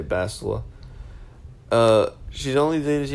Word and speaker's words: Bastila: I'll go with Bass because Bass is a pretty, Bastila is pretty, or Bistila, however you want to pronounce it. I always say Bastila.